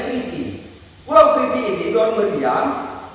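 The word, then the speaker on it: Κρήτη: Kalau orang baca Kreta Kriti, bacanya Kriti.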